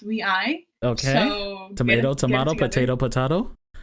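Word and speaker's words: WayV: wavy over nct okay i like to pronounce it as whey but you know sure it's pronounced we i okay tomato tomato potato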